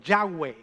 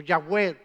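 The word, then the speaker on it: Yahweh: pronunciarlo hoy en día sabemos que más o menos la pronunciación de ese nombre al unirlo con vocales por el nombre adonay que también aparece en la Biblia relacionado con Dios Entonces más o menos ese nombre tenía que haberse pronunciado como yahw o yahw no nos importa que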